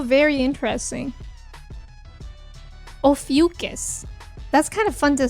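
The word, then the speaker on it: Ophiuchus: Oh, it's pronounced ofus. Ofucus. And it's between Scorpio and Sagittarius. How very interesting. Ofucus.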